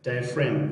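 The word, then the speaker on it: diaphragm: ډایفراګم به نه بولي ځکه چې جي دلته سایلنټ ته موږ وویل چې کله مخکې کله جي نه وروسته ام راسي نو جي چې سایلنټ ده. ډایفرام د زړه پردې ته ویل کیږي.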